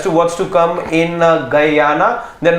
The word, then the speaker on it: Guyana: But perhaps as you Have you been to Guyana, Harshit, ever before? No. But you just pronounce Guyana the way the Guyana.